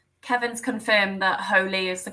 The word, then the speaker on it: Hole: Holy. Maybe that's the pronunciation of Harry. Oh, yes, Hole. I think that's right. Yes. Harry Holy. Harry Holy, yes.